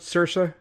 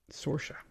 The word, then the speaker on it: Saoirse: ever struggle with cersa I think I pronounced it at sir yeah I didn't know I just avoided pronouncing it until I saw a video of her saying that you pronounce it sha and I was like oh that's makes sense soraa even I was pronouncing it wrong now I thought it was sersa but soraa soraa I like that what